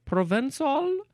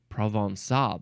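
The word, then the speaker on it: Provençal: it's Pro how do you say this word provol I need I need the pronunciation of this word standby uh provinal pronunciation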